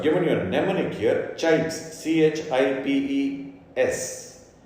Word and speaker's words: CHIPES: So I've given you a mnemonic here, CHIPES, CHIPES. Sometimes, you hear people pronouncing this as chips, but don't forget the E.